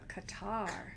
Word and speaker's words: Qatar: out and bonding before stephanie goes back to qatar yeah right did i say it right you